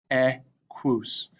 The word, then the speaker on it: equus: This is how it'd be pronounced, equus. That Q-U-U-S makes a woos, quoos sound.